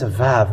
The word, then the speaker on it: ו: it's like uh apostrophe and in Hebrew it's VAV when you see that and how we read